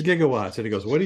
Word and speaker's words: gigawatts: about electrical power and he said jigawatts and Bill Nye said no it's not pronounced jigawatts it's gigawatts and he goes what